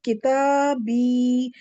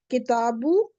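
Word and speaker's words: كتابي: You try kitabu and attach the ja. Try to pronounce ja with kitabu. You can't. You can't really. So because of dhamma and ja, we can't pronounce them together.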